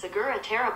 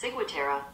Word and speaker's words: ciguatera: That's pronounced ciguatera poisoning. The bitch spelled it wrong again. Type in the word. Hey Google. Spell it for her. How do you pronounce ciguatera? That's pronounced ciguatera.